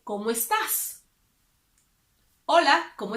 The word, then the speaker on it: estás: When you use the informal way, you have to pronounce the S. So you would say, ¿Cómo estás? Hola, ¿cómo estás?